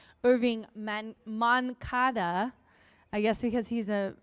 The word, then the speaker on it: Moncada: And he's a guy I always want to say Mancado Chile had to um tell me it's Irving Moncada.